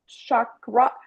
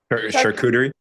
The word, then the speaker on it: charcuterie: You could just post all kinds of healthy Shakarati. How do you say that? Charcuterie, charcuterie. There you go.